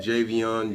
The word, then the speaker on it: Javian: is the correct way to say it but jv on jv but it was funny i always call